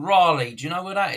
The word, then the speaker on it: Raleigh: called Raleigh bikes you if you call them rally bikes that's because it's badly pronounced it's Raleigh but anyway Raley is North